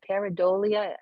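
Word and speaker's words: pareidolia: so Death Valley says para radio dolia peridolia is that how we pronounce the faces in objects yeah yeah okay it's also useful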